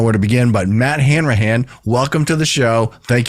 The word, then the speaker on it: Hanrahan: don't even know where to begin but Matt Hanrahan welcome to the show thank you for joining